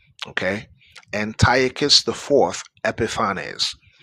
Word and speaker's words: Antiochus: Now I know some Israelite camps uh uh call him Antio. It's actually Antiochus. Okay, Antiochus I 4th Epiphanes.